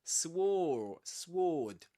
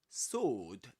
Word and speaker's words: sword: Just like in sword, as we discussed before, you don't say sword, but sword.